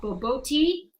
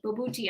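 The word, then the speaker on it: bobotie: And I would say probably something meaty, like, there's this South African dish called boboti that, Bobuti, I think is how you pronounce it. It looks like boboti.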